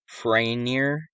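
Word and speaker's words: Farriner: The fire started in a bakery owned by Thomas Franier. That's how you pronounce it.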